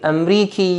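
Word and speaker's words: أمريكي: the nationality hello auntie Amriki yeah please note here that when we are pronouncing it and with a yeah sound and Mbeki are you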